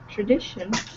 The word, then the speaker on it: tradition: right side please yeah tradition right how many syllables 33 I agree and the IPA symbols tell us that the stress is on which syllable yeah this okay that's the second syllable dish okay good everyone noticed that